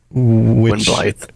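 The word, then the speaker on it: Gwynbleidd: Which Blythe. Blythe. Yeah, it's the 2 D's as I mispronounce it. It's pronounced like a TH. So it's spelled with 2 D's, pronounced like TH.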